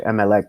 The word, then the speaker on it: Emelec: my opinion, he should think about going to MLEC before going to MLS. You know what I mean? Which is the team that he came from. MLEC. Or how do you pronounce it? Emelec.